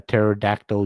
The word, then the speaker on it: pterodactyl: I would feel like, why can't you hear a pterodactyl urinate? Because the P is silent.